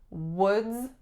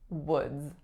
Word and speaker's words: Woods: we have was woods not too tricky other than the vowel o which is actually a really tricky battle so woods final sound is a Z woods next one we have